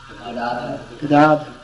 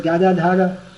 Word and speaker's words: Gadadhar: The member of the Panchatattva, whose name begins with G, his name is pronounced Gadadhar.